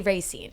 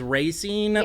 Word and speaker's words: Racine: think the locals say Racine. Yeah I think there's that um what's technically true versus what the locals like slang is. And I think the local slang is racing, but like it's grossine